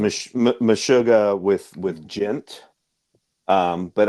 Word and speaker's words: Meshuggah: It's a very clear you know throughine on that genre and that's M mishuga with with Gint.